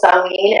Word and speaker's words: Samhain: So Samhain, as I said, is spelled Samhain. So it doesn't really look like it's not pronounced how you would think. But again, that's because it's very Celtic, you know.